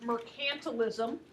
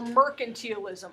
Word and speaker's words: mercantilism: And the way that it all works is because of the system of mercantilism or mercantilism. Either pronunciation is acceptable.